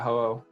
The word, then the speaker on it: Ho-Oh: Ho-Oh, right? Yeah, Ho-Oh.